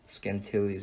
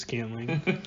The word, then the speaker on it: Scantling: I got the up-and-comer Valdez Scantilles, or however you say it. Scantling? Scantling. Scantling? Scantling. It's just Scantling. You're adding like extra syllables.